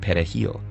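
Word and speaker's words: perejil: Spanish word for parsley Dominicans pronounce it pahil with a trilled Spanish R the primary Haitian language however is cray which doesn't use a trilled r so if people struggled to say pahal they were judged to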